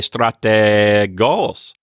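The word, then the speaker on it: στρατηγός: thinking about it anymore if I say strata goals I know that that vowel there is an ETA because of the way I'm extending it and I know because of my vocal inflection that the accent is on the final syllable and that goes into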